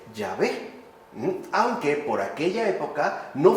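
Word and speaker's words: Yahvé: así escrito pero con caracteres hebreos solamente debía pronunciarse llave Aunque por aquella época no fuera ya Siquiera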